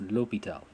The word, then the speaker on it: L'Hospital: So, Lidell's rule um spelled hospitals, but the hospitals actually, but it is pronounced lal.